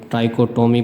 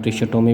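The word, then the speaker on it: trichotomy: Question number five में है हमारे पास स्टेट ट्राइकोटमी प्रॉपर्टी। इसे आप ट्रिशटोमी भी कहते हैं। ट्राइकोटमी भी कहते हैं। ट्रिकॉमी भी कहते हैं। कई प्रोनाउंसिएशन है।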